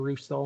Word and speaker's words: Russo: Was I calling you Russell or something? A Russell. I apologize, Mr. Russo. I'm saying it correctly now, right?